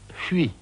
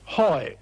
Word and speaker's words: Huy: News had just come in that the German armies were making for a place on the Meuse called Huy, H-U-Y. It's a very difficult word to pronounce in English.